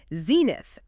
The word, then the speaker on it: zenith: Okay, and the final name, zenith. Z-E-N-I-T-H. Stress. Zenith. Stress on the first syllable. 2 syllables.